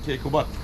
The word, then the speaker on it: Keykubat: Alaaddin Keykubat. Ki? Keykubat. Kekubat.